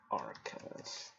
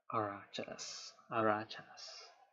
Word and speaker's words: Arachas: Witcher, how to pronounce Arcus, which is not how you pronounce it. Arachas.